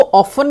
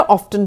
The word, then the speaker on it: often: अब इसको ऑफन भी बोल सकते हैं, ऑफ्टन भी बोल सकते हैं.